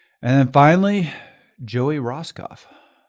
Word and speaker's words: Rosskopf: And then finally, Joey Roskoff. That's also correct pronunciation.